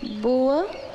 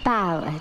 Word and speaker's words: bower: Some of the words, like this word, boa. I know what bow means, It's pronounced bower, dear.